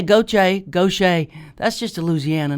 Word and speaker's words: Gauthier: Yeah, it was Gauthier. Right. Gauther.